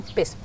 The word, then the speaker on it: kippis: So, how do you say cheers in Finnish? Could you please tell? We say kippis.